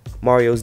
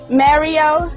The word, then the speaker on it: Mario: Now initially, when he debuted, he wanted the public to incorporate the Jersey slang pronunciation of his name, calling him Mario.